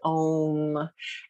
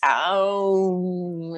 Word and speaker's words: aum: My husband and I just love to om. And the true way you pronounce it in Sanskrit is even longer than om. It's aum. It's got three syllables.